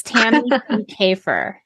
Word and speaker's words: Kiekhaefer: least for the YouTube intro I think I pronounced your name incorrectly so it's tan and kefir very good so we're going to be talking